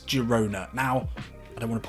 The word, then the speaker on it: Girona: The Catalans, they like their G's, they like their hard G's, and I'm with them there. That's the way it should be pronounced. Girona it is.